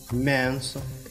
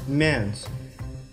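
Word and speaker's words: mięso: Следующая буква, как и вторая наша буква, тоже в различных случаях читается как Л, М, Н. Например, мясо, мэнсо, смачное мэнсо.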